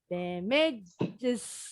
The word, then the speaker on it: damages: Damage, satu suku kata. Kalau begitu tambahin S, bunyinya jadi gimana? Damage. Berapa suku kata tuh? Damages. Dua suku kata.